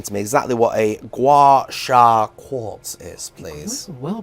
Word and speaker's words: gua sha: So I'm hoping you can explain to me exactly what a gua sha quartz is, please. Well pronounced.